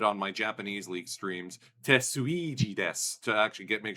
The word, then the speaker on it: Suigi: my Japanese league streams Tetsuweji desu to actually get make sure people pronounce it properly. So, Sweji like Luigi, that's where the gimmick came from.